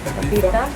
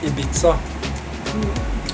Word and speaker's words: Ibiza: Not that typical tropical, but more the Ibiza, how do you pronounce it still? Ibiza? Ibiza. Ibiza. Yeah, you know, in Norwegian we say Ibiza.